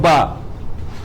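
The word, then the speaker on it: باء: This ba, when is with alif, the pronunciation, it ends with alif.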